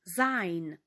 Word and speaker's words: sein: буде Sign маємо правила S на початку слова перед голосними читається теж як звук з зайн унз і пригадуємо ще